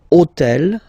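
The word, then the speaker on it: hôtel: took on purpose this otel okay because it starts with Ash but remember that in French we don't pronounce Ash okay so basically the first sound of the word is the vowel o okay so for the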